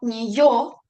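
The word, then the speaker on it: неё: que tiene dos puntitos esto no indica que necesito pronunciarla como un doble y sigo teniendo que guardar la pronunciación como si estuviese escrita la letra yo es decir debo pronunciar ni yo a pesar de que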